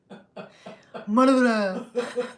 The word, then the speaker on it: Morava: Anybody speak Czech? Just have to roll that R.